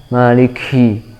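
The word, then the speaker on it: مالِكِ: Maliki, ki, cukup mengeluarkan udara yang sedikit ya, ki, dan tetap jelas sifat syiddahnya, sifat tertahannya suara. Ka, ki, kalau diucapkan maliki, hi, kurang jelas syiddahnya. Maliki, tapi harus dihentak, awalnya dihentak kemudian keluar udara ya.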